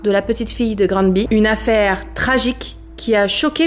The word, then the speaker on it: Granby: Mon français me dirait Grand B, mais quand j'ai écouté les différentes interviews, les différents reportages, j'ai entendu Grand B. Donc je pense que c'est comme ça qui se prononce.